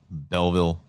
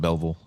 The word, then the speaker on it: Belleville: for it really yeah not like Belleville probably more like bevel Bellville like how the people say double it's all put into one one word there's no Belleville it's not two syllables as bubble uh this is at